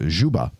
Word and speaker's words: Dzuba: You tell people it's like the scuba.